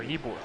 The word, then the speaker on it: Ybor: No, Ybor. Ybor City. And that's how it's pronounced.